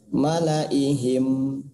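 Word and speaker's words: ملإيهم: Nah, di sini secara teorinya semua tulisan malaihim la-nya dibaca pendek. Ya, contohnya di surat Yunus. Nah, ini sama ya. Malaihim tulisannya dibacanya malaihim ya, kayak di sini.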